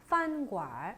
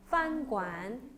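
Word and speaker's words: 饭馆: 판괄 어떻게 해요? 제가 지금 저도 모르게 얼발음을 넣었는데 얼발음 넣어서도 써요. 어떻게 해요? 판괄 그 다음에 얼발음 빼면요? 판관 그쵸?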